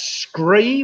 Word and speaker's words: scree: That's scree, which of course rhymes with the number 3.